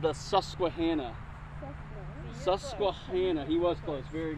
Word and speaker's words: Susquehanna: right native american name it's called the susquehanna susquehanna he was close very good it's this